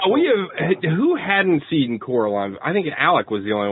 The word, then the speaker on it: Coraline: Russian uh acrobat Mouse guy and he kep Caroline who call who Carol voiced by um what's